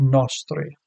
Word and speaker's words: nostri: And miserere nostri goes to the first syllable of nostri.